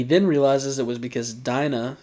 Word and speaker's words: Dina: realizes it was because dinah should be pronounced dina had royal blood and